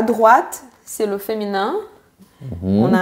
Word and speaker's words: droit: Donc ça finit en T et on ne le prononce pas.